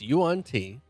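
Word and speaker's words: yuan-ti: It's Yuan T.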